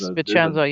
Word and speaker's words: Vicenza: Vicenza is that how you say it? Yes, Vicenza, yes.